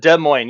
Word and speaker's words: Des Moines: Des Moines.